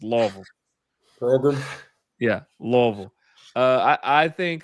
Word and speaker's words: Louisville: Sorry, you got to say it like if you're saying it right, you got to say it like you have marbles in your mouth. It's Louisville.